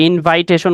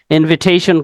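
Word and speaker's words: invitation: আর ইনভাইটেশন বলবো না কাউকে ইনভাইটেশন করবো না আমরা ইনভিটেশন করবো ওকে নরমালি আমরা ইনভাইট বলতে পারি সমস্যা নাই কিন্তু হচ্ছে গিয়ে আমরা যখন ইনভিটেশন এর জায়গায় ইনভাইটেশন বলি তখন বিষয়টা সম্পূর্ণ রং আমাদের প্রোনাউন্সিয়েশন হতে হবে ইনভিটেশন ওকে চলেন পরেরটায় যাই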